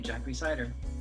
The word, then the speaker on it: Jack Rhysider: the hugely, wildly popular podcast series, Darknet Diaries, Jack Rhysider. Jack, did I say it right this time? Yep, you got the name right, Jack Rhysider.